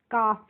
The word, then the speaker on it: calf: इसको हम काल्फ नहीं पढ़ते हैं, इसका भी एक रूल होता है, जब भी किसी वर्ड में एल के बाद एफ आएगी तो यहाँ पे जो एल होगी हम उसका प्रोनाउंसिएशन नहीं करेंगे, तो इसीलिए इसको काल्फ नहीं पढ़ते हैं, क्या पढ़ते हैं? काफ पढ़ते हैं।